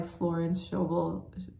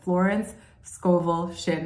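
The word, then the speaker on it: Florence Scovel Shinn: It's the game of life deck by Florence Shovel. I always I always mispronounced Florence Scoville Shin. There we go.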